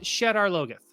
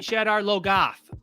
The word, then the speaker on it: Shadar Logoth: jordan for pronunciations right uh-huh and like it's pronounced shadar logeth he has a pronunciation guide in the book there's a pronunciation guide in the book and then they say shadow goth and i'm like that sounds like the way